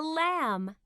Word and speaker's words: lamb: with a knife on your knee page 66 silent letters m b e a listen and learn this is a lamb what's the ending sound in lamb that's right